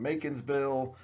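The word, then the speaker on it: Macon's Bill: to look at some Macon'sville. It just rhymes with bacon.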